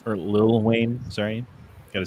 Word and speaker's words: Lil Wayne: did you guys know that the Mayes predicted Little Wayne or Lil Wayne Sorry gota say it right yeah it's not